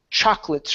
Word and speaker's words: chocolate: go to the word chocolates right here instead of chocolates it's chocolates chocolates CH okay one more time chocolats chocolates take out the second o chocolate chocolate there you go that's